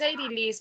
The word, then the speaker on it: Eirilis: Lo estoy pronunciando bien, ¿verdad, Eirilis? Es Eirilis, profe, pero no hay problema. Ah, bueno, Eirilis.